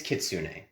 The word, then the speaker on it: kitsune: does Japanese pronunciation it of is- something carry into the Pathfinder universe? It is kitsune.